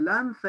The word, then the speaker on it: lanza: Y dice que este hidalgo era de los de lanza, voy a pronunciar la Z como la pronuncian los españoles porque me gusta, los de lanza en astillero, adarga antigua, rocín flaco y galgo corredor.